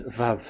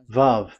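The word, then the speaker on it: וָו: We called it as Vav. Vav. Your claw, your mouth is like closed. Vav. So it's V as in Vogue.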